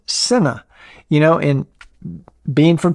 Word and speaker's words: Sena: years i referred to the sena headsets as cena headsets and i was corrected through uh one of my comments that it's pronounced senna you know in being from texas you know